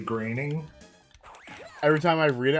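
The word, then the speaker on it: Groening: So, can we talk about how uh how the creator's name is Matt Greening and there's no A in his last name at all? I can't pronounce his last name at all. What? You can't say graining.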